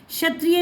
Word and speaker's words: क्षत्रिय: क्षत्रिय में भी सेम बात है कि अगर इसमें हमारा क साइलेंट है और श षटकोण की साउंड आ रही है क्षत्रिय, तो बोलो क्षमा, क्षमता, क्षत्रिय।